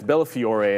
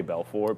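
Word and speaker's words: Bellafiore: Yeah, it's Bella Fior. And it's cuz in my head I start wanting to say Belffor because obviously but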